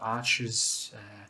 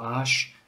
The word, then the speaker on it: Arches: they appear as well this is a sheet of arches or ash paper depending on how you want to pronounce it and 100 cotton and